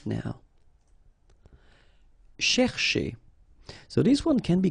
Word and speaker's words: chercher: chez, all right, so chercher, chercher, okay, and the difficulty normally is, well, also in the repetition of sh, okay, chercher, chercher.